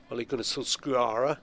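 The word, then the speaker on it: Ole Gunnar Solskjær: name and he said well if you want to do the Norwegian it's Ole Gun Solskuara something like that.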